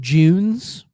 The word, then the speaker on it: Junes: Well, because then you get to the commercial for Junes, which Junes, it's spelled Junes, just June with an S, but it's pronounced Junes.